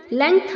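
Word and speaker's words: length: होता है जो कि बहुत सारे बच्चे लेंथ बोलते हैं लेंथ नहीं होता है बच्चों लेंथ होता है बीच में ग और ऊपर अं की बिंदी आनी जरूरी है लेंथ नहीं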